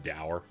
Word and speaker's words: dour: galif and louis in a less doer setting but it seems i just missed you oh sir it's pronounced dour i still can't believe